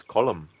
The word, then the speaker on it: Colm: likes to be called Colm and then Shan is like you know I can't remember the exact quotes but just paraphrasing Shan is like his name is Colum that's how you pronounce it and um Kieran is